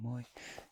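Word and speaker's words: moi: here we have the first thing um it's Moy hello Moy and I actually put it like this I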